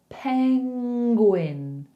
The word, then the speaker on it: penguin: So it's almost like you make the like running, but then you put a hard g in there. Penguin. Because you have to say gwyn as the second part of the word.